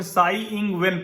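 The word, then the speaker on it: Tsai Ing-wen: तो इसको मैं साई इंग वेन पढ़ता हूं।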